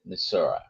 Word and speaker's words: Missouri: Uh, for Pix Fly Farm from Missouri or Missouri, depending how you pronounce it, they're both the many of the locals call it Misura.